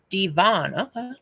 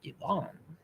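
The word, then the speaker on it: Divan: Chicken Deven, pronounced Devon, Devon, is a casserole of chicken, broccoli, cream of chicken, and cheese, and bread topping.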